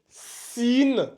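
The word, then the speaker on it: سين: rajoute un H comme ça là à la prononciation ça donne Chine Chine donc ça c'est sine et ça c'est Chine voyez-vous les trois points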